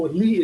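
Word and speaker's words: Lie: it's called naively theory oh lee is spelled l-i-e like live theory but the groups are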